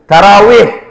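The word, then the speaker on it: تراويح: বলে শেষ করে দেই এই যে সমস্ত মোল্লারা তারাবির নাম আট রাকাত বলে এরা কোরআন তো বুঝেই না হাদিস তো বুঝেই না এরা গ্রামারও বুঝে না কিভাবে গ্রামার বুঝে না খেয়াল করেন তারাবিহ তারা ওয়াও ইয়াহা তারাবিহ আরবি শব্দ আমরা বাংলায়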